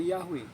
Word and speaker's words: Yahweh: Nah, kalau di bunyinya YHWH itu dibacanya Yahweh.